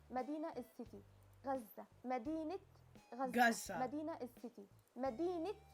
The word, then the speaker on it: غزة: So غزة. Yeah, you see what I mean? غزة. مدينة is city. غزة. مدينة غزة.